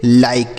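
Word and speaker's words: like: तो किसी भी शब्द के लास्ट में इ रहेगा तो इसका उच्चारण नहीं करेंगे। उसी तरीके से एल आई के ई तो इसे हम पढ़ेंगे लाइक। क्या पढ़ेंगे? लाइक।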